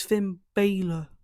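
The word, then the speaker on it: Bálor: So it's Finn Baylor.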